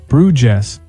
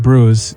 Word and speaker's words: Bruges: The man said it slowly, Bruges, like it's spelled. My brother gently corrected him. It's pronounced more like Bruges in French or Bruke in Flemish.